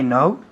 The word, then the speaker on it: know: I know where he works. Muy bien. I know where he works. El verbo saber es to know en inglés. Tiene una K, pero no se pronuncia.